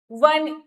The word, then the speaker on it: one: वन, अब आप देख रहे हैं यहाँ पे ओ है, अब हम फिर से साउंड की ही बात करेंगे, तो यहाँ पे अ आएगा, ना कि एन।